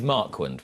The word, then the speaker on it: Marquand: when it is and it is marquind we've we've we've established this now you your surname gets pronounced 85 different ways yeah i mean i